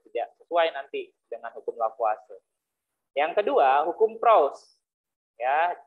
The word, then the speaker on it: Lavoisier: Ya, hukum dasar yang pertama hukum Lavoisier. Orang Prancis ya, biasanya kan kalau dibacanya nggak sesuai dengan tulisannya gitu ya. Hukum Lavoisier.